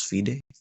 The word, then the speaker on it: FIDE: to play in the fiday FID Fay you say it like that it's Fay fed's Championship I think